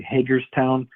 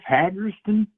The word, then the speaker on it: Hagerstown: But anywhere else you go, people will say, "Where do you live, Hagerston?" They always pronounce it Hagerston.